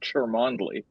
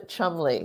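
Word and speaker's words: Cholmondeley: which one was it it is it is pronounced trembly very good even though it looks like charmandli charmandali exactly and the Chumley yeah Chumlee is one of those weird things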